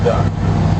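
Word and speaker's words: DUKW: what we're riding on this is called the duck but you don't spell it like the kids do d u c k that's not how you spell duck here's how the military spells duck d u k w d u k w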